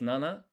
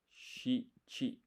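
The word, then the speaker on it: 七: This is nana and shi chi.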